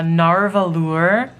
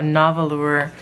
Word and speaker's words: Nahvalur: box that the uh narvalure I looked it up I was saying it wrong came in and I'm probably gonna say narwhal a lot but I'm sorry about that it's a novelore nautilus um it's like a